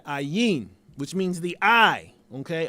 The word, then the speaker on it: Ayin: Both Aleph and Ayin are silent letters, which is I'm talking about with Adam, the hidden power, the silent power in Adam, which we have to discover. They have no sound aside from the vowel associated with them.